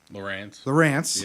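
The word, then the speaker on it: Lowrance: So I'm heavily relying on our depth finder, the Lawrence. How do you pronounce that? Lawrence.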